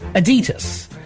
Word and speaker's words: Adidas: But part of the conversation was the pronunciation of the brand name Adidas or ad-ee-tus.